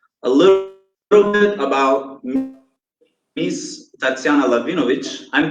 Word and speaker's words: Tatsiana Lahvinovich: So guys, a little bit about Miss Tatsiana Lahvinovich. I'm pronouncing it correctly, yes?